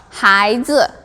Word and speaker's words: 孩子: The right pronunciation should be 孩子 because this one, this, no need E.